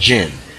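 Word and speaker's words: djinn: called DG or DJ I NN but it's pronounced gin and they are the representatives of that and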